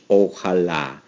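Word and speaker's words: ojalá: favorite expression in Spanish oala andala comes from the Arab language which means and you can hear the word if you pronounce it right you can hear Allah Allah in the expressional which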